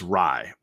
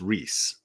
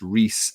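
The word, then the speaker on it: Rhys: people say that it's Reese like RH Ys is a common Welsh name like it's it's a name and it's pronounced Reese and not rice uh um audio booking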